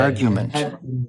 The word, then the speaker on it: argument: O inglês não fala o R. Argument.